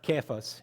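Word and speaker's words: Cephas: you a nickname I'm going to call you sephus it's actually pronounced keas in Aramaic and it is an Aramaic term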